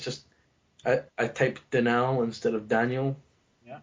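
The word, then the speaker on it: Dinal: you pronounce that d i n l yeah denal did you you say Deni d i n l denal denal yes it's denal that's how you pronounce the name all right but apparently someone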